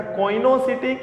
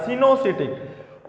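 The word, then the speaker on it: coenocytic: तो हम कहेंगे ऐसे हाइफी को हम कहते हैं बेटा कोइनोसिटिक या सिनोसिटिक।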